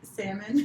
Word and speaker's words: salmon: I always pronounce that word wrong. Capers? Salmon. You said it right.